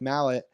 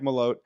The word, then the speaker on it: Malott: One of my favorite Canadian prospects now, Mike Mallet. I'll say his name correctly, Mike Malott.